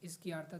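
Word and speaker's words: izquierda: एस की आरता Spanish इसकी आरता the spelling इसकी आरता आई जी क्यू यू आई आर डी ए इसकी आरता इसकी आर दा द डी ए डी डी नॉट T best best is called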